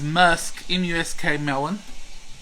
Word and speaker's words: muskmelon: mentioned the other night about a mushroom we call it but the pronunciation is really is musk musk melon this is one of